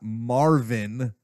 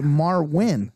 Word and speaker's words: Marwin: Marvin, but it's Marvin, not Marvin. It's Marwin. Yes, I know, but it's Marvin.